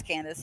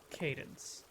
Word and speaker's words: Cadence: I believe it's Cadence. Oh, I've been Because pronouncing it Candace this whole time. it's a music pun.